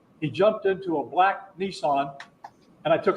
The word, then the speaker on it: Nissan: Oh, I always thought it was funny the way that Americans pronounce Nissan as Nissan. Nissan, yeah, Nissan. Until I realized that it's like a composite of the Japanese numbers 1 and of 2 and 3. You know, Ni and San.